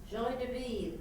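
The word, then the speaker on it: joie de vivre: How do you pronounce that? Joy de vivre. Joy de who? Joy de vivre.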